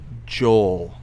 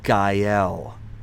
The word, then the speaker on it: Gael: It's not Joel. It's Gael.